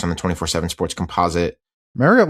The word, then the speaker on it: Marriott: Rocco Marriott, top 25 quarterback, 4 stars on the 24/7 Sports Composite. Marriott like the hotel, by the way.